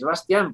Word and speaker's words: Bastián: normalmente seana al bastian No no es bastian es bastián porque chavales españoles Sebastián que a ti te